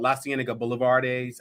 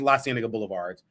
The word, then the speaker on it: La Cienega Boulevard: a Facebook person called La Cienega Boulevardes. That's how I was pronouncing it, but it was La Cienega Boulevards. But La Cienega Boulevardes, that's how I was pronouncing it last week.